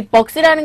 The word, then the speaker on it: bucks: 이 bucks라는 것은 dollars라는 단어와 똑같은 의미인데요. 일상생활에서 슬랭처럼 많이 쓰이는 표현이에요. $10, $100, 박스가 아니라 bucks 이렇게 발음해 주시면 되겠어요.